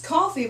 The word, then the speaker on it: Ko-fi: It's coffee, but it's spelled with a K.